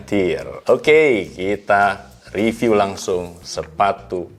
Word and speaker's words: TYR: Kita akan ngebahas sepatu yang satu ini, TYR, bacanya TYR.